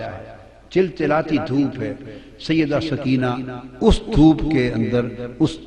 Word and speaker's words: سکینہ: لخت جگر شہزادی سیدہ سکینہ، اصل نام ان کا عربی وزن میں سکینہ ہے، عرف عام میں سکینہ چلتا ہے، اصل لفظ سکینہ سیدہ،